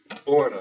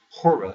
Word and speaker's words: hora: work in Portuguese is hora de the H is not pronounced you just take that off and you have order instead of hora if you say hora